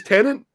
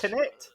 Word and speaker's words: Tenet: Because I always thought it was Tenant. No, there's not an N in it, mate. It's Tenet.